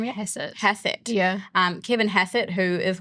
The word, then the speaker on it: Hassett: Hassett.